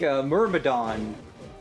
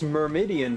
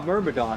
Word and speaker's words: Myrmidon: Like Myrmidon. Myrmidon. I always Yeah. read it as Myrmidian for some reason for ages until like Noth and